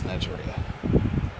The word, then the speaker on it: Nejire: This guy got this girl named pronounced it all. Nejire. Yes, Nejire.